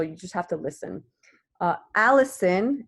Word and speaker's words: allicin: Allison, and not the name, it's spelled like this.